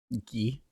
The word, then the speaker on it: Guy: Well, fortunately, it's pronounced in the French way, but I have a coworker whose name is spelled Guy. Guy.